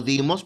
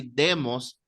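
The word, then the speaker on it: δῆμος: que la ñ, pues cuando hay un acento circunflejo se pronuncia como i. Dimos, o ya se transliteró, ya se quedó así, demos, de ahí viene la palabra democracia, gobierno del pueblo.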